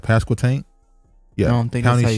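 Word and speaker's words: Pasquotank: fatally shot and passed pascal tank county sheriff that's how you say it right pascal tank yeah i don't think i should say it but i did that's how you said it pascal tank county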